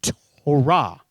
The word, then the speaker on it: Torah: and by the way in hebrew usually the last syllable of a word is the one that gets the oomph all right if you were a jewish individual that knew your hebrew it would be torah okay like hurrah that's how i remember